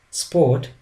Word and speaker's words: Sport: For example, let's take the word sport. In German, it's the same letters, but the pronunciation is different. Sport. Instead of the sound S, it has sound sh, and the rest remains the same.